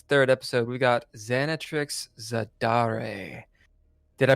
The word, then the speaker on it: Xanatrix Zadare: ] today it's the third episode we got xanat Trix zadar did I pronounce that right xanx you did and if